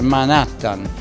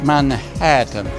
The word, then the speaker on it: Manhattan: e arrivi a Manhattan non si dice Manhattan si dice Manhattan un po' di cultura